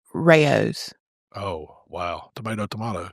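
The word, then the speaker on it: Rao's: settled something for us uh oh controversial settled Rose we've been saying R you know the sauce the really good sauce at the store Rose how you say it no it's Rayos oh wow tomato tomato R rayu how do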